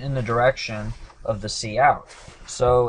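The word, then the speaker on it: cout: prints out hello world C C out is how it's pronounced but what it stands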